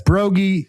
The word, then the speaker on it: Broggi: minutes and where the emphasis was and the syllable and kind of deal. And it was a good time. So yeah, it's Broggi, Biggie, and Trey, but Tress.